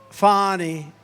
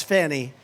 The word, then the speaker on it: Fani: It's pronounced Fani, F-A-N-I. That's Fanny. But she likes it Fani.